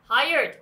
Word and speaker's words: hired: Hired, 고용했다. Hired, 고용된. 이거 지금 아무것도 없는데도 고용된 PP예요, 여러분. hired. D 발음이 거의 잘 안 들려서 얘들아 higher, higher 그냥 이렇게 들리거든 너희들 노래에서는.